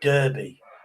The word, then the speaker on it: Derby: And in America it's called Derby. But we we we don't use the e r. We go the a r. So it's derby.